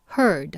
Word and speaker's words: heard: heard 들었을 때 했네요 똑같은 글자에다가 d만 붙였는데 발음이 좀 바뀝니다 듣다의 원형은 here 이렇게 발음이 되고 과거형은 heard 하셔야 돼요 특히 요게